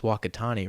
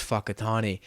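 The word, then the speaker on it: Whakatāne: i was like uh that's pronounced wakatani right and she was a a maori woman and she goes uh oh no actually it is pronounced fuckitani and in the middle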